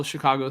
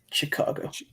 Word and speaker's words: Chicago: Fonzie on the whole Chicago thing said heavy CH. So Chicago.